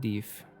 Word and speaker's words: deaf: "Are you deaf, boy?" The old man pronounced it deef.